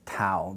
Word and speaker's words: tau: The alveolar unvoiced is tau. This is the letter tau. And it's not said like RT. We don't put our tongue on our teeth. We put it on that ridge. Tau, tau, tau.